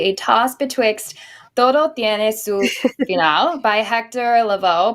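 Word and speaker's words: Lavoe: toss betx by Hector Lavo pronounced Lavo as if to say la Laos right the voice in Spanish and Last Ride of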